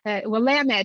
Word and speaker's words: Willamette: I want to make sure everyone hears Willamette. I was mispronouncing it earlier.